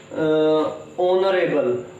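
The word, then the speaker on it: honourable: अब इस वर्ड को हम पढ़ेंगे ऑनरेबल। ऑनरेबल क्यों पढ़ेंगे? क्योंकि जो ये एच लेटर आया हुआ है इसमें, वो साइलेंट रहता है, और इसको अगर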